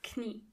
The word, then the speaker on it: Knie: Knee means das Knie. And in German, you have to pronounce the K. Das Knie.